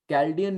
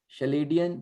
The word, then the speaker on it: Chaldean: वैदिक के बाद कैल्डियन न्यूमरोलॉजी, शलेडियन चलेडियन कोई नहीं बोलेगा, कैल्डियन numerology is the right pronunciation.